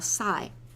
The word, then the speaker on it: Psi: Okay, so I want to move along to define a function that I'm going to call Sigh, the Greek letter Sigh.